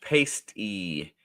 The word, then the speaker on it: pasty: Pronounced pasty. It's a Cornish dish and a bread pocket, hamburger, rutabaga, potato, celery, etc.